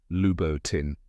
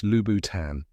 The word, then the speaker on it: Louboutin: Many people mispronounce it as Lubboutin or Lubboutin, but now you know it's Lubboutan.